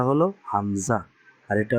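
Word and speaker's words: همزة: তারপরে হয় কি, হামজা, হামজা, হামজা, হামজা। এটার উচ্চারণটা হলো হামজা, আর এটা উচ্চারণ হলো অবশ্যই ইয়া, ইয়া।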